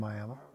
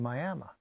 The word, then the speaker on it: Miami: still Miami Arizona what why is it pronounced Miami well the guy that uh settled a town he wanted to call it Miama but when they spelled it they put an e on it instead of an A so it became